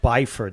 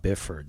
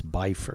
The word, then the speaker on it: Byford: It's pronounced Byford, actually. It's not Bifford. It's Byford.